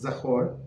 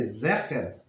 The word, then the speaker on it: Zecher: The verse reads, wipe out the memory, Zecher." So it's the same letters, but the different pronunciation. Zecher of Amalek, meaning memory of Amalek.